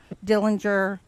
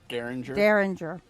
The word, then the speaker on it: Derringer: Dillinger. Not Dillinger. Derringer. I said it right, not the way he writes.